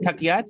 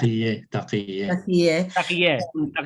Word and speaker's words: taqiyya: Taqiyat? Is that how you say it? Yeah. Taqiyya. I added a T at the end.